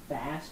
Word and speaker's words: FAAST: It's called FAST, but it's spelled FAAST.